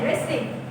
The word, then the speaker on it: wrestling: রেসলিং ইজ a popular sport for them, রেসলিং WRESTLING, রেসলিং, এখানে কিন্তু টিটা silent থাকবে।